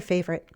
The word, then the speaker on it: favorite: It's her favorite. And did you notice how I said "favorite" with two syllables?